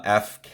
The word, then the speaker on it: EPHK: by the artist uh FK e e e p h k f FK I think is how you pronounce it um some really fun